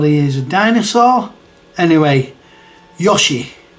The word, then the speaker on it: Yoshi: is a dinosaur anyway Yoshi I've always said Yoshi does anybody say Yoshi like I said I think there's only two variations there didn't the Yoshi